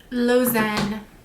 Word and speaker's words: Lausanne: okay so we gotta go back to my pronunciation website here lozen then we have the shade alforn which is